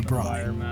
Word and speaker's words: braai: They need a lesson from our guide, Christoff, on how to braai. And that's spelled B-R-A-A-I, braai.